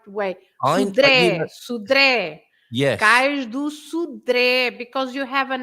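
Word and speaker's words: Cais do Sodré: And so it's Cais do Sudré. You stress the last E, Sudré. And you open the vowel. You open the vowel E because of that.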